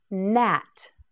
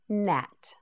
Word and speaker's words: gnat: Nat. This word begins with a G, but the G is silent. It is pronounced Nat.nat. Say it with me. Nat.